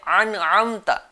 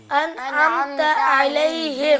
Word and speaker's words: أنعمت: ناظرین بھی ہمیں سننے ہوں گے حمزے کو کیسے نکالتے ہیں؟ انعمت. یہ غلط ہے. اس میں تو زیادہ محنت لگ رہی ہے. آسان تلفظ کیا ہے اور صحیح تلفظ کیا ہے؟ انعمت علیہم. أنعمت عليهم. ہاں چلیں ایک بار وہ پورا پڑھ لیتے ہیں.